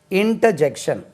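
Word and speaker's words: interjection: இன்டர்ஜெக்ஷன், ஐ இன்டர்ஜெக்ஷன், INTER ஜங்ஷன் சொல்லக்கூடாது, ஜெக்ஷன், JECTION.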